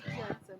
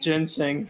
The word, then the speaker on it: ginseng: I know it's not pronounced Jensen, but that's the whole thing. Ginseng.